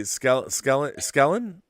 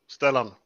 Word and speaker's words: Stellan: I mean, I can't wait to see Skellen. Is that how you pronounce it? Skellen? Stellan with a T.